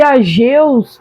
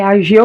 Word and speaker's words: Ageu: Mas eu pensei que eu tinha pronunciado o nome do profeta errado. Mas é Ageu mesmo.